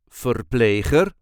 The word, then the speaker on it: verpleger: or female nurse, or verpleger, male nurse. This is the way we say verpleegster, or verpleger, verpleegster, Verpleger. There is a light emphasis on the second syllable, Verpleegster, or Verpleger, Verpleegster, or Verpleger, Verpleegster, or Verpleger.